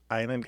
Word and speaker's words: island: Island has a little bit of French history. The s is not pronounced in French. Therefore, we don't pronounce it in this word island.